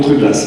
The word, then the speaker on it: Truglas: Comme je suis moi dans le milieu, on prononce tout. Allez, donc Truglas, parfait.